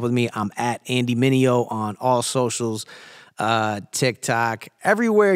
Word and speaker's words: Mineo: me, I'm at Andy Mineo on all socials, TikTok, everywhere your kids are. You know how to use Google as well, so type my name in. It's pronounced Mineo.